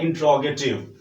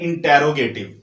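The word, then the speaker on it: interrogative: ये जो आपके सामने नंबर 3 पे लिखा हुआ है इंट्रोगेटिव, इसको स्टूडेंट्स यूजुअली बोलते हैं इंटेरोगेटिव। ठीक है, तो ये आपने गलती नहीं करनी, ये इंट्रोगेटिव होता है। प्रोनाउंसिएशन इसकी आप लोग ठीक बोलिएगा आइंदा से।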